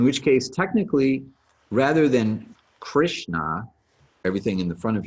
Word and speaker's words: Krishna: case technically rather than krishna everything in the front of your mouth the actual pronunciation would be krishna so there's a little flick of your tongue to get the r sound and the uh s